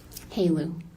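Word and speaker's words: HALEU: HALU.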